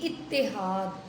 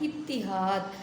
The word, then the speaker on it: اتحاد: اگلا لفظ ہے اتحاد۔ پہلا لفظ مکسور ہے، دوسرا مشدد یعنی تے کے اوپر شد بھی ہے، اور جو تیسرا لفظ ہے وہ مفتوح ہے یعنی اس پر زبر ہے۔ جیسے اس کی ادائیگی ہوگی اتحاد، اتحاد، اور اس سے لفظ بنیں